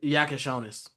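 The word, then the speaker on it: Jakučionis: Jack Yakonis.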